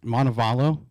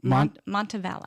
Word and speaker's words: Montevallo: Montevallo Montevallo Montevallo Montebello I speak Spanish like pretty fluently right so when I see the Double L I want to say value right right that's the correct way to say it um so you go